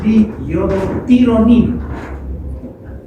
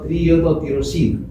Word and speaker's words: triiodotironina: forma se obtiene la triiodotironina. Estoy pronunciando bien. Triiodotironina, no estoy diciendo triodotirosina.